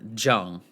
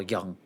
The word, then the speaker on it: Jung: at carl jung or zhong but the j is pronounced with a y so carl young also has anybody ever